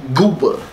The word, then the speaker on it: GOOBA: Like, you gotta say it like that. GOOBA.